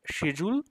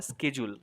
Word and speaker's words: schedule: ব্রিটিশে এটাকে বলে শিডিউল, আর আমেরিকানরা বলে স্কেজুল।